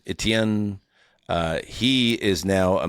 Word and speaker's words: Etienne: So, it was like A-C-H-A-N-E.